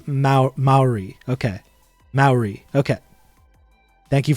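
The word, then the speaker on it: Māori: we think about this is that how you pronounce that i do not know probably not most likely not it's it's maori okay maori okay thank you for correcting me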